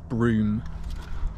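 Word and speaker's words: Brougham: h a m broen but we pronounced broom it's quite beautiful we've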